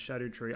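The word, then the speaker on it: Scadutree: The Scardo tree is pronounced shadow tree.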